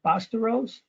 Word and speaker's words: Bastawrose: We're talking to Bastawrose. I'm sorry, how do you say that? You got it. It's spelled phonetically.